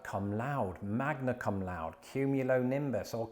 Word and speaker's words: cum laude: So, the U in Latin would be pronounced U, and of course, you pronounce like every vowel. So it'd be cum laude.